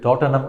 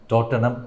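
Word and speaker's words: Tottenham: ആ ക്ലബിൻ്റെ പേര് ടോട്ടനം എന്നായിരുന്നു. ടോട്ടൻഹാം എന്ന് എഴുതുമെങ്കിലും അതിൻ്റെ ഉച്ചാരണം ടോട്ടനം എന്നാണ്.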